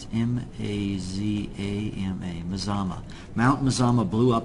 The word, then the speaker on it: Mazama: M-A-Z, how do you pronounce it? M-A-Z-A-M-A, Mazama.